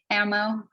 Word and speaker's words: AMMO: you also have a website, Music by Amo. Is Amo, right? That's how it's pronunciation. I always have to ask somebody how to pronounce Oh their yeah, no, it's ammo. It's Amo. like ammunition.